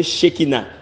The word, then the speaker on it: Shekina: Ça veut dire qu'il prononce Shekina.